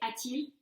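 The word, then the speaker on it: a-t-il: for he or she you have to add a t between the verb and the subject so if you look at these examples here you see arif till ariz this is simply for pronunciation's sake it's much easier to say atil than it is to say for french speakers so when the verb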